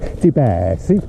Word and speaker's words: Di Blasi: deasi or de sorry to pronounce it correctly I have to say spaghetti like Italian you know spaghetti and then I can say debass Deb yeah debass R32